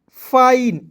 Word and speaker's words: fine: FINE, एफ का फ लिख देना है, IN है इसका उच्चारण आइन के रूप में करेंगे ना जी, हो जाएगा फाइन।